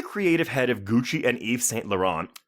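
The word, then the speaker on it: Yves Saint Laurent: Eve St la on are you surprised I know how to pronounce that did you go did you practice that yeah did you practice it I already knew I wasn't going to call it Evas Wes per but anyway so he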